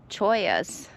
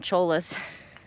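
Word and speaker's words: cholla: I said it right. If you saw my last video, you guys will know what I'm talking about. There was a whole patch of these choyas right here and I called them cholas. We all know what cholas are. I mean they're spelled like that. So I was halfway right.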